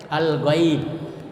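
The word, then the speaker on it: الغيب: al-ghaib. Ya, al-ghaib. Ada fathah sesunahnya ya sukun. Cara membacanya dengan lunak ya dan lemas serta tidak boleh dipanjangkan.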